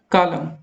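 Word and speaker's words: column: Which letter is silent into word कॉलम, इसमें क्या दोस्तों साइलेंट है, इसमें एन साइलेंट हो रहा है।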